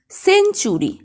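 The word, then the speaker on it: century: শব্দে টি থাকলে টি এর পরে যদি ইউ থাকে তাহলে টি এর উচ্চারণ চয়ের মতো হয়। এক্সাম্পল দেখো লেকচার, সেঞ্চুরি, ফার্নিচার ইত্যাদি।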